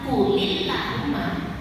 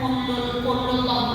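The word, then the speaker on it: قُلِ اللَّهُمَّ: Tapi kalau dari kulillahumma, nggak bisa kulul nggak boleh. Kulillahumma.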